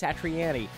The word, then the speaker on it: Satriani: take his word for it and say it's satriani after decades of mispronouncing it i'm trying really hard to change